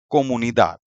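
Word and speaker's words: comunidad: अगर आप इसका प्रोनाउंसिएशन सुनेंगे इस वर्ड का तो इसका करेक्ट प्रोनाउंसिएशन है कोमुनी दाद। तो स्ट्रेस ऑलरेडी लास्ट सिलेबल पर है।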